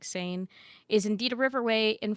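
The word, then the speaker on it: Seine: else cares Fiera says the sane pronounced like sane is indeed a Riverway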